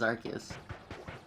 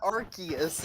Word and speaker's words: Arceus: they like still pronounced arceus in japanese it was most likely only changed in english because they didn't want it to sound like arse oh really okay so